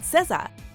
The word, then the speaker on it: SZA: time to learn how to pronounce her name because you're going to keep hearing it welcome to Ms mojo and today we'll be counting down the top 5 facts about cezzah before we begin we